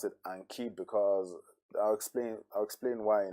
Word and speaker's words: Anki: Yeah, I actually pronounce it Anki because I'll explain why in a bit.